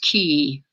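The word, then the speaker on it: Cay: Pronounced key. Oh, Half Moon Key?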